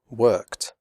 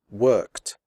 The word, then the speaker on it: worked: p f and S the final Ed is pronounced like t as in the word hot the E remains silent here are some examples worked picked fixed missed stopped